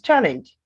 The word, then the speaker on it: challenge: Both noun and verb, the pronunciation is mistake. Challenge. Challenge. Whether noun or verb, this word is challenge.